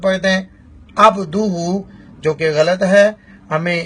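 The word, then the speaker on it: عَبْدُهُ: اور ایک اور غلطی یہاں پر عبدہ میں عین کو واضح نہیں کیا جاتا. عین کا مخرج بھی ہا کی طرح حلق کا درمیانہ حصہ ہے عبدہ, نہ کہ عبدہ. عبدہ پڑھے تو اس یعنی لفظ پر غور کریں کہ عبدہ عین کے ساتھ ہے, اور لوگ جو پڑھتے ہیں وہ الف کے ساتھ پڑھتے ہیں یا حمزہ کے ساتھ پڑھتے ہیں عبدہ, جو کہ غلط ہے.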